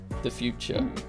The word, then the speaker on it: Futur: It's spelled Futur, The Future.